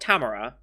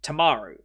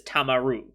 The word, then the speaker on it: Tamaru: i say his name it's not tamara it's tomorrow yes i i switched to you and the a around his name i always think it's tamara but it's tamaru i'm terrible with his